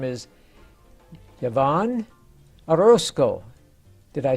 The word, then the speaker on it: Yavonne Orlson: And today we're very privileged to have a very young lady with us today, and her name is Yavonne Orlson.